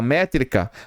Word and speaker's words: métrica: Olha só, a palavra métrica se divide assim, ó, metricis. Então, eu tenho três sílabas, ó, 1 2 3. Sendo que esta aqui, ó, que é a mais forte, é a tônica.